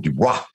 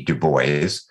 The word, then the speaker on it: Dubois: Most people like to give it the French pronunciation, Dubois. And we have people regularly come up and tell us we are mispronouncing our own name. But there is a long lineage of Dubois, the gentleman that started the NAACP, W.E.B. Dubois, pronounced it Dubois. But no, we have no French ancestry, Russian, Polish, Jewish, Dubovy, then at Ellis Island became Dubois.